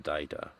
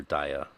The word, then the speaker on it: Dagda: a daughter of Daigda, of the Daida, or Daya, depending on what time in space you're pronouncing it.